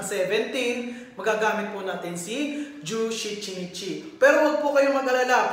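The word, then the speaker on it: 十七日: Jushichinichi. Jushichinichi. So, yung shichi, di ba, special reading po ng 7. Okay, so dito po, sa days of the month ng 17, magagamit po natin si Jushichinichi.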